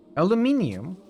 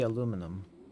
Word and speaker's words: aluminium: Aluminium. That is Is that the British? Done. I've got it. Spelling and pronunciation. Yeah, it is. It is. The American would be aluminum.